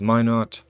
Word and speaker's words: Minot: north dakota south dakota which is actually pronounced minot oh gosh there where